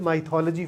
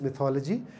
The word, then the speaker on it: mythology: First up, I used to call it mythology for a long time. And then I learned that, the correct pronunciation is mythology. So I'm sharing that with you right here.